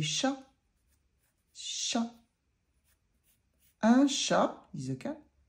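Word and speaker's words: chat: Bobby and so so how do you say cat in French well actually it's very easy you say sha sh and sha is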